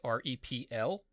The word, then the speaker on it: REPL: Now you'll also see a message down here that says you can press any key to enter the REPL, that's R-E-P-L. That's pronounced REPL, and it stands for Read, Evaluate, Print Loop.